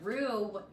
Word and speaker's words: roux: your own roux and a roux it's spelled r-o-u-x and it's pretty much